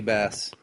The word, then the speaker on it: Base: DJ Bass. That's his DJ name. BASE. DJ Bass. DJ kick the funky bass. Kick that funky bass.